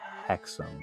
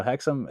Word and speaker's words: Hexham: Can you think of a spookier town than Hexom?